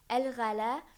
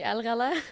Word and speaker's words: Alghala: Today, I have a very special guest, Alghala, and we'll be talking about a growth mindset. So, sorry, did I pronounce it right? So close. It's actually Alghala.